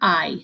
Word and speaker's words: hay: So remember that H is silent. A says A, we call it la letra A, and this makes a E sound. So that's why it's que hay, like the body part, hay, se pronuncia hay, que hay de nuevo.